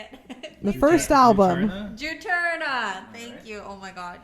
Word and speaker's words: Juturna: Did you know that, I'm going to say it wrong probably, Juniper? I can't even say it. The first album. Juturna.